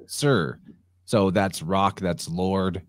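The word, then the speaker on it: Tyre: for a time was the city sir which is spelled for some reason in English t-y-r-e so most people are saying tire but it's sir so that's Rock that's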